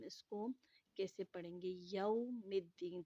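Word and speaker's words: يوم الدين: یوم الدین، تھوڑا سا آواز کو گھماتے ہوئے آگے تلفظ کرنا ہے۔ مالک یوم الدین، ایاک نعبد و ایاک نستعین، ٹھیک ہے؟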